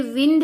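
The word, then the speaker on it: wind: ये विंड है, वाइंड नहीं है। विंड यानी हवा, वाइंड यानी चाबी घुमाना। स्पेलिंग सेम होती है बट इसका प्रोनाउंसिएशन है वो अलग होता है।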